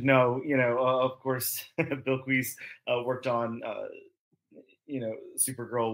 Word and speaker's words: Bilquis: I think, and I could very well be wrong, but I think it's supposed to be Bilquis.